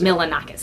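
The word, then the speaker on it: Milonakis: Milanakis, yeah.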